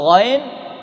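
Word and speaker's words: غين: Kalau ghain tidak ada riaknya, nggak ada dengkurnya.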